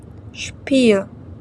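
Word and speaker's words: Spiel: щойне сарай шні сніг с буква сполучення с читається як шп шпіл гра шпот спорт не спорт а шшпрехн говорити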